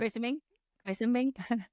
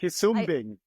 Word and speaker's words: Quisumbing: Quisumbing? Oh, No, shit. Quisumbing. Quisumbing. Wow, I butchered it too.